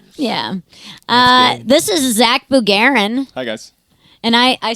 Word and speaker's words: Bugarin: that's sh way yeah uh this is Zach bugarin hi guys and I I say your name